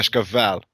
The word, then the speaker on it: Cascavel: In Portuguese we pronounce it Yeah. Cascavel.